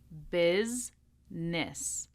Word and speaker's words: business: two syllables chocolate Wednesday and finally business bis-ness bis-ness hopefully Hopefully, you're able